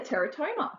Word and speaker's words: teratoma: displays there yeah you can even see a Teratoma what's a Teratoma is that how you say